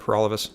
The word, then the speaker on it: Paralovos: Burney has got the right idea so I'm proud to be the People's Party candidate again my name is for all of us that rhymes with for